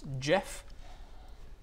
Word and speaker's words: Djeoph: One of the ones lashes out to grab at Djeoph. Let's see if we can find Djeoph. Well, the D is silent, isn't it?